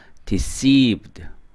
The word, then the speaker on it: deceived: 자, 이 단어는 여기 두 번째에 액센트가 있어요. 그래서 deceived.